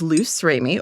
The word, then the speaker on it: Luce Remy: So, it's written like the Italian, pronounced like the French, but I'm an American.